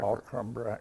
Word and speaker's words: Alcumbrack: Alcumbrack. Alcumbrack. It's just like it's spelled, really.